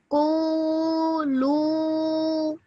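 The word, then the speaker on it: قولوا: Qulu. Well done. Perfect. Excellent. This alif at the end is a silent alif, so you don't pronounce that.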